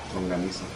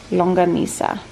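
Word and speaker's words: Longganisa: Longanisa. Longanisa.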